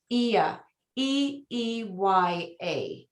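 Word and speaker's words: Oia: this little village of ia and here's a an agent bootip for you you'll notice it's spelled o i a it is pronounced e e y a so that'll give you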